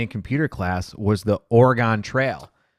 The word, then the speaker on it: Oregon: have where they say origon but it's I think she's trying to get you to say Oregon or which is the pronunciation Oregon yeah there's no like e sound in there Oregon but I'm not a